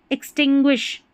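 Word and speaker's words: extinguish: अब यहां पर देखें एक्सटिंग्विश। एक्सटिंग्विश इसको भी तीन टुकड़ों में पढ़े। एक्सटिंग और फिर ग्विश।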